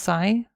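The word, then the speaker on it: psi: Sai is just pronounced Sai like S Y.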